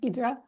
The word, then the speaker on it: Hydra: about the island of idra which is also it looks like Hydra when you see it written out but it's pronounced idra um and it's it's